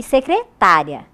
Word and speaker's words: secretária: que modifica a pronúncia elas são escritas de maneira igual mas a pronúncia é diferente vejam molho de molhar e molho secretaria e secretária fábrica e fabrica Só muda a acentuação umas T outras não né agora passando para as